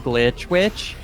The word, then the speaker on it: Glitch Witch: Also, one of my close friends has the actual Twitch username Glitch Witch. It's with 2 I's in both of them, so that you have to pronounce it as though it's glitchy. It's Glitch Witch.